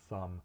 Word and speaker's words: thumb: represent other sounds, but it does sometimes show up as a silent letter in English writing, like in thumb and doubt. The B wouldn't show up in the phonetic transcription of those words.